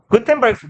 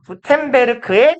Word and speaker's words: Gutenberg: 독일어에서 저기 G가 그 단어의 끝에 오면 크로 있습니다. 크라고 해야 되냐? 크랑 사이에 있는 되게 묘한 발음이 있어요. 국어로는 발음이 불가능한 요 중간에 어디쯤에 있는 발음. 그래서 우리말로 보통 옮길 때는 크로 번역하긴 합니다.